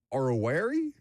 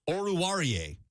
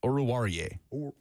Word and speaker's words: Oruwariye: Amani Oruwari. I'm sure that's not how I pronounce it. Oruwari? You're embarrassing yourself. Am I? Go ahead. You are traditionally terrible at pronouncing names. Oruwariye. Amani Oruwariye.